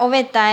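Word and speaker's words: ovetã: Oveta, que era, oveta es ventana. Acuérdense bien cómo se escribe y qué significa. Oveta con acento nasal es ventana.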